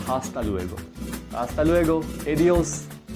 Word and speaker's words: hasta luego: Remember, in Spanish, H's are not pronounced. We keep H silent and we pronounce other words. That's why hasta luego, not hasta luego. Hasta luego.